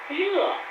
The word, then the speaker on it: 热: 很热, the fourth tone means hot.